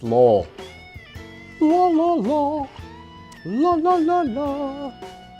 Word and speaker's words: Lowell: It's pronounced Lowell.